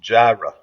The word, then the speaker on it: Jireh: lot of pronunciation said it's just Jireh, kind of like a long J-I, long, and then Ruh.